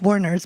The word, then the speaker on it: Warnors: It's still pronounced Warners, but I just want to emphasize the O.